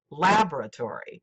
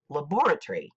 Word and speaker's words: laboratory: instance the word laboratory the American way of pronouncing the word is laboratory with the first syllable accented in the UK the word is pronounced laboratory with the second syllable